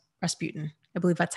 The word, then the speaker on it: Rasputin: of that is that the guy Ross you Rasputin Rasputin I believe that's how you say his name